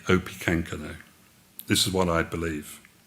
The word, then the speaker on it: Opechancanough: underline at this moment the english called him opi kankano in other words this isn't pakika now is not an advisor he's actually opi kankano this is what i